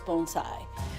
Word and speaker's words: bonsai: today are bonai and the proper pronunciation is bonai so as we go